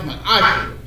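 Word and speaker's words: מעשר: It's pronounced, it means tenth in the Hebrew, and it's pronounced ma'asher.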